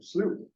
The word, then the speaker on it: Slough: by Kate at the Elkhorn Slough pronounced slew National Estuary Reserve research